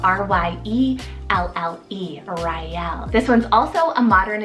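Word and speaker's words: Ryelle: Then for another great art option, I have Raelle, spelled R-Y-E-L-L-E, Raelle.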